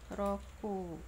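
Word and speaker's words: 六: Ini roku ya, secara Ongyomi roku ya, secara Kungyomi dibacanya mutsu.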